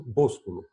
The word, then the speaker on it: Boscolo: Hoje a gente vai conversar aqui com o meu amigo, professor doutor Boscolo. É Boscolo mesmo? É isso daí, certíssimo.